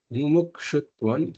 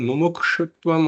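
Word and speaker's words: मुमुक्षुत्वम्: So just a note about this pronunciation. The same thing in Mumukṣutvam also, that same shakara is there.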